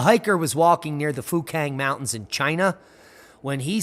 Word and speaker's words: Fukang: it's crumbling now have you heard of the fukang meteorite yeah you could mispronounce that and get demonetized quite quickly it's